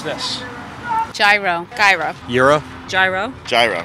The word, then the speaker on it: gyro: Gyro's cool, that's how it's spelt in English, in plain English. So I'm okay if you just come up and say gyro.